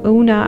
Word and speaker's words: Yuna: Eli, Ima, Ire, Yuna, or Una. I don't know how you pronounce it in English version, but in Russian it's Yuna. Ole, Yani, Ava, Yuta.